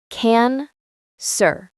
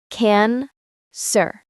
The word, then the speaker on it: cancer: How do we say this word? We say it like this. Can sir. Listen again. Can sir. The first part can is strong like the word can. The second part is soft like sir.